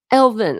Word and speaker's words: Elvin: Elvin. Okay, Elvin. Kind of like Alvin and the Chipmunks, but Elvin.